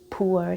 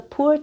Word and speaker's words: pu'er: Now, my favorite tea is something called pu'er tea, and that's spelled Pu-hyphen-er, pu'er tea.